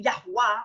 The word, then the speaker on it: Yahuwah: Yod, He, Wah, He, Yahweh versus Yahuwah, Yahuwah, Yahuwah, Yahuwah, Yahweh. I mean, not Yahweh, Yahuwah.